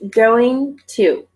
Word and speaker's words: going to: saw wanted to okay we don't pronounce this T all right even though